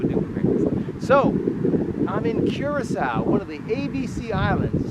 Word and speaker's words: Curaçao: So, I'm in Curacas, one of the ABC islands. Say what? Yeah. Curasaw. Now, the other A and the B, they got something in rhyme with the sea.